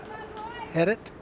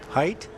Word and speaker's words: Heidt: I believe they said that was number six uh for Prep, Jared I uh Heidt? I believe, or not sure how to pronounce that last name. Height? Something like that? Yeah, Heidt.